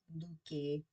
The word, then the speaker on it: Leuke: Luke, That's not right. Luke. Luke, Luke. Huh. I feel like that's wrong because the other pronunciation did not say Luke.